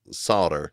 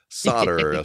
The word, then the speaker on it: solder: disagree with you guys the way you say we go it s o l d r oh okay solder that's it solder for us it's s o d d r is what it sounds like the way we say